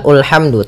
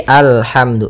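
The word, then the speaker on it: الحمد: Maka apabila ada alif lam di awal bacaan, maka a-nya dibaca dengan fathah. Alhamdu. Nah, di sini bukan ulhamdu tapi alhamdu.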